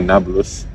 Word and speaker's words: Nablus: give the name Neapolis, which today they say Nablus, Yeah. because the pronunciation of the P is like B in Arabic.